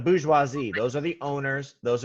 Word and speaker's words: bourgeoisie: the Borgo more GOC but we pronounce that how any know how to say that French word visualize II yeah the booze huazi those are the owners